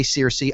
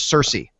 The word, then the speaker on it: Cersei: to say it and it's easy to say ciously the way it's spells but he says it's Cersei so just so everybody